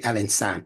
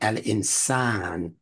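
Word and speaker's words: al-insan: i n s AA for pronunciation sake and excuse me to be pronounced an insan don't say Al insan say Al insan because that vowel elongation is a part of what's necessary down the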